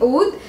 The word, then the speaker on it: Oud: It's, I think, a little bit more deeper than that, and people have been getting the name wrong too. It's actually Oud, and Oud is a scented wood in Arab,